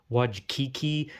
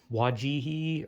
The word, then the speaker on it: Wojcicki: Some people say Wajkiki, some people say Wajki, some people say Wajihi, or something.